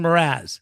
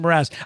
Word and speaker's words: Mraz: I think I just said his name wrong. Jason Mraz. That's what it is. Jason Mraz.